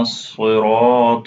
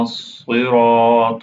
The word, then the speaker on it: الصراط: Swad is heavy, Ra is heavy, Ta is heavy letter. Siratal Mustaqim. This Qaf is heavy. Pronounce it heavily. Say again. اهدنا الصراط المستقيم. اهدنا الصراط المستقيم.